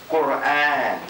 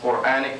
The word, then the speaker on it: Qur'an: So that's medda, and it indicates a prolonging of the pronunciation. So we want to write now Qur'an, Qur'an, Qur'an, Qur'an.